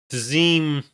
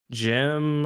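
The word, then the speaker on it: Dzym: It's I forgot how they say it in the audiobook because I did listen to a bit of the audiobook. They say it Gem, I think. Okay. Yeah. Gem.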